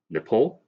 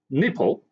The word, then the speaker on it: Nepal: in asia which is nepal and bhutan you know these two countries and he pronounced these two countries as nipple and button you know who is